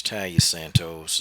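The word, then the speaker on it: Taila Santos: It's Talia Santos.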